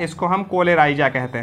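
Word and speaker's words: coleorhiza: जो protection provide कर रहा है इसको हम कोलेराइजा कहते हैं, ठीक ना, कोलेराइजा, ठीक ना, इसको हम कोलेराइजा कहते हैं। रूट कोलियोराइजा, कोलियोराइजा लिखा है बेटा इसमें, कोलियोराइजा, एनसीईआरटी में देख लो, स्पेलिंग करेक्ट लिखना बेटा, ठीक ना, कोलियोराइजा।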